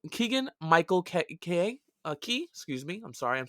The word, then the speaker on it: Keegan: curious just wait for that so we got kegel keegan excuse me i'm sorry i'm saying it wrong